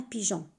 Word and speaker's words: pigeon: La même chose avec le mot un pigeon. On a mis E entre G et O pour avoir le son J.